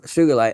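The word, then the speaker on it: sugilite: first heard the term sugarite a couple of decades ago I always pronounced it with a hard G that's great soft G just sounds wrong the other favor of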